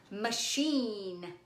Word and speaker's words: machine: Next one, machine. Ooh, what kind of machine? See if you can spell it.